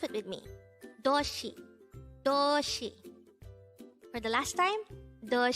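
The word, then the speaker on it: 도시: dayhango word number 234 this is pronounced as a two-syllable word the first syllable is second syllable is she pronounce it with me Doshi for the last time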